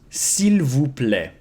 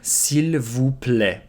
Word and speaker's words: s'il vous plaît: of the time is s'il vous plaît. S'il vous plaît. A lot of letters we don't pronounce here. S'il vous plaît.